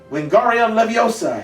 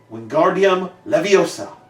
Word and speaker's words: Wingardium Leviosa: "Wingardium Leviosa!" he shouted, waving his long arms like windmills. "You're saying it wrong," Harry heard Hermione snap. "It's Wingardium Leviosa. Make the gar nice and long."